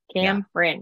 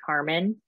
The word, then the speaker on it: Kamrin: Kamrin. It's very exactly how it's spelled, which most people actually turn it around and they say Carmen.